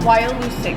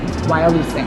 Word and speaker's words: Wyalusing: Wyalusing. Wyalusing.